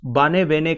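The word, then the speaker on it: Barnevernet: जिसे बार्नेवेरनेट बोलते हैं, वैसे बार्नेवेरनेट एक इंग्लिश वर्ड नहीं है, एक नॉर्वेजियन वर्ड है। नॉर्वेजियन लैंग्वेज में इसका प्रोनाउंसिएशन कुछ बार्नेवेने करके है, तो फॉर ईज ऑफ अंडरस्टैंडिंग हम बार्नेवेरनेट बोलेंगे।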